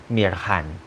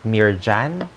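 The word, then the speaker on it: Mirhan: conversation it's uh her name is actually Mir Han not near so um it's it's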